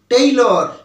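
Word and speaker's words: tailor: আমরা কথা বলে থাকি কিন্তু আসলে এই ইংরেজিটা হচ্ছে ভুল উচ্চারণ এর সঠিক উচ্চারণটা কেমন হবে জানো এর সঠিক উচ্চারণটা হবে টেইলর টি এ আই এল ও আর টেইলর ট একার রসই ল র টেইলর এটা কিন্তু টেইলার নয় এটা হচ্ছে টেইলর টি এ আই এল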